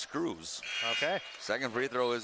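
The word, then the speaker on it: Schreurs: first one is missed so he spells his name sch-r-e-u RS shrewers is about how I'd guess but he said it's pronounced screws okay second free throw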